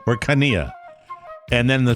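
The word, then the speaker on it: Chania: No, the pronouncer. The pronouncer. K small a dash capital N-I-Y, nothing else but lowercase double A. Oh, yeah. Jesus. Kania.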